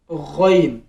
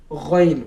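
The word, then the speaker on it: غ: so this is called ghain with this shape, gha, gha, gha। यहाँ से गले के पहले हिस्से से अदा होगा, लाइक ख, ख, जहाँ से ख अदा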